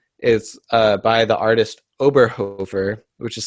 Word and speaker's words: Oberhofer: album I have is uh by the artist oberhover which is spelled o b e r h o f